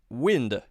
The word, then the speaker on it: wind: Wind, short I sound.